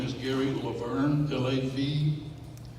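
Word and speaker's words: Lavergne: Again, his name is Gary Laverne, L-A-V-E-R-G-N-E. And I think in Cajun, it's pronounced differently. But he lets me say Laverne, because English is my second language.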